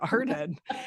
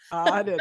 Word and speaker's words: Arden: And I thought, oh my gosh, if I ever have a daughter, I'm going to name her Arden.